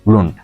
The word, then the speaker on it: Lund: शहर का नाम है ल्यूंड, LUND। ल्यूंड कहते हैं, आप जैसे मर्जी प्रोनाउंस कर लें इसको, बट हम इसको ल्यूंड कहते हैं। स्वीडिश पीपल कॉल इट ल्यूंड या लुंड।